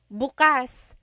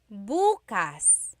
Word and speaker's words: bukas: If you say buas emphasis is on the first syllable that means tomorrow.